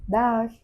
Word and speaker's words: Dag: In Dutch. Dag. It's almost like saying Dutch.